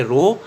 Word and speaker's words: rho: ये पी जैसा, ये एक ग्रीक लेटर है जिसको प्रोनाउंस हम करेंगे रो, RHO, रो.